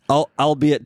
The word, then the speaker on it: albeit: Albeit temporarily. Yeah, albeit. Spell it. ALBEIT. Is it? Albeit. I always read that as the Albert. It's like a weird way to spell Albert.